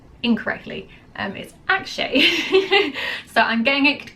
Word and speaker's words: Akshay: was I think it was a trailer I pronounced his name incorrectly um is Akshay so I'm getting it correct this time around